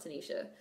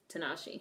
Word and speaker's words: Tinashe: her name is not Tanisha her name is Tinashe yeah like why is